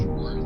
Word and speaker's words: Schwartz: Oh, and by the way, is it Schwartz or Schwartz? It's Schwartz. There's no T in my last.